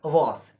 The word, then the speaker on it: was: German was due to a pronounce as are so the word is was and the meaning of